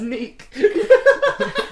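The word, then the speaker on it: Nik: My name's Neek. Neek. It rhymes with freak.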